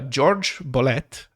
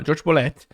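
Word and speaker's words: Jorge Bolet: uh george bullet and i know like i'm kind of mispronouncing his name but i think that's how he pronounced it because he's from latin america but he moved to the united states and he always used the uh a more americanized pronunciation on his name so george uh george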